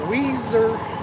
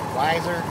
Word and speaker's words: Weiser: and we're in uh Weezer Weezer Idaho wiser yeah looks like wiser but there is there uh pronunciation of it uh we're gonna be